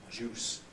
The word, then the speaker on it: juice: or certain other languages must be careful to distinguish the semi y from J the africat difference between use employment and Juice squeezed from the fruit have you any juice for me and have you any use for me are different messages all right uh well